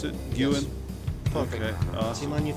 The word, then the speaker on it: Guin: for From The Trenches of wonderlust by S Guan that's how you pronounce it Guan perfect okay awesome on your feet suif very